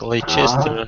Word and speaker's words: Leicester: it may not be as you expect because they are not pronounced exactly as they are written.